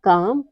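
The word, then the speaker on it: calm: पर L silent है rule number four यदि किसी वर्ड में एल के बाद एम आता है तो एल हमेशा साइलेंट रहता है जैसे है काम पाम बाम और आमंड इन सब में क्या है इन सब में एल के बाद आया हुआ है तो यहां पर हमारा एल साइलेंट है अगला है एन कब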